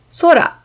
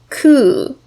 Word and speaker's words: 空: about the natural environment our first kanji has two pronunciations which we are going to learn today the first is sora which means sky the second is ku when i put it